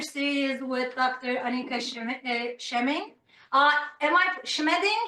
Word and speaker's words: Schmeding: Schmeding? Am I pronouncing this correctly, Dr. Schmeding? Yeah, Schmeding. It's a complicated German name.